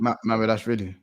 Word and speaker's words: Mamedashvili: Mamedashvili.